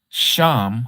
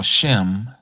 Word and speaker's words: Shem: So, anyhow, Sham, who they call Shem, he was in that order.